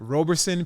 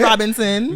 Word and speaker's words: Roberson: Pronounce it one more time. Roberson. Okay. Not Robinson. Not Robinson. Not Robitussin. Not Robitussin. Okay. Listen. Not Robitussin. Roberson, and Robe for short.